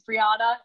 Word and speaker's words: Brianna: Well, it depends where you're from. So if you're East Coast in the U.S., it's Brianna.